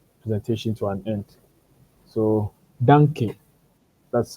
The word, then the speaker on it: danke: So danke, that's how you say it in German.